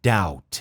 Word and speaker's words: doubt: Olha a pronúncia, doubt. A gente não pronuncia esse B.